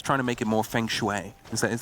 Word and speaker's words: feng shui: Maybe he's trying to make it more feng shui. Is that how you say it? I think it is, right? What? Feng shui? You don't know? Yeah, feng shui.